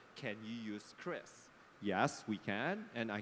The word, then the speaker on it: QRIS: I still remember watching in the TV Pak Perry explaining it is not QRIS, it is not QRIS, it's CRIS.